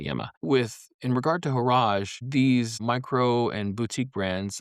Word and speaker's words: Horage: Second brand, Horage, pronounced Horage, right? Kind of rhymes with garage or por- Some people have pronounced it with like porridge, like horridge, right? I say Horage.